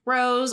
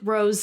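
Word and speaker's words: Rosé: So the next one is, do you say her name like Rose or is it Rose? Because sometimes I say Rose, sometimes I say Rose because of the accent. It should be Rose because of the accent.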